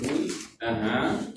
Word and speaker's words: would: Don't pronounce the L. He would. He would have elasticity.